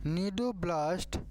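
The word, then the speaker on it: cnidoblast: नीडोम क्या कहते हैं नीडोम कहा जाता है यह आपको ध्यान रखना है सी यहां पर साइलेंट हो जाता है और आपको बता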